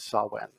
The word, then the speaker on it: Samhain: as I mean but the Celtic pronunciation is Sawan and it runs from